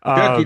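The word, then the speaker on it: Cherki: Or I can't pronounce his name either. But Turkey. No, he that's the name. Yeah, no, you got it.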